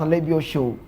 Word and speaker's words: Alebiosu: If you're Yoruba, you pronounce Alebio Show. The calling back in the time in Blackburn Rovers, Alebiosu, but Nigerian, I think he hails from the west, the Yoruba part of Nigeria.